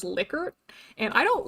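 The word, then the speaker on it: Likert: And honestly, I like pronouncing it like Lyker scale, but I recently learned that it's actually supposed to be pronounced licor, and I don't like that.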